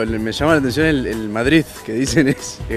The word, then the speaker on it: Madrid: los madrileños por ejemplo a ninguno le oído pronunciarlo como con la de final pronunciamos matriz terminado el zeta y no determinante no no escuchamos mucho pero el mensaje desde el del madrid que dice de c's